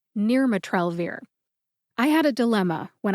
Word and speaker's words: nirmatrelvir: much if you're listening her pronunciation is near matrell I had a dilemma